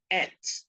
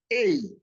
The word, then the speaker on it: ate: Now, ATE, Ghana will pronounce it as et. The British, the American, they pronounce it 8.